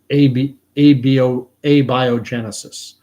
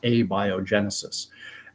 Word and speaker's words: abiogenesis: I've spoken about it before, and someone on here corrected me on my pronunciation. It's abiogenesis, or I used to say abio. I used to say abiogenesis. It's abiogenesis, and what it holds, abiogenesis holds that for